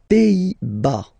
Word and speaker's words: Pays-Bas: Les Pays-Bas. Final S here, not pronounced. Same thing here. Pays, pays, and then bas.